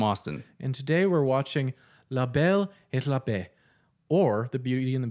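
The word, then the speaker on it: la belle et la bête: french as i'll go i do think it is labelle at labette i i don't think you have to you don't you don't pronounce hard teas in french okay you know what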